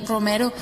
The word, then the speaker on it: Romero: spade at that time we have seen your surname written as both romeo and romero but which is the correct way to say it i changed my stage name several years ago romeo for networking reasons but i have decided to go back to my given name romero everyone calls me better